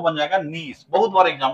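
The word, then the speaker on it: gneiss: अंग्रेजी में जो पढ़ते हो उसको यह जी से स्पेलिंग शुरू होता हुआ मिलेगा। जीनिस। जीनिस ना उसको मिलेगा लेकिन वो है नीश प्रोनाउंसिएशन नीश होता है।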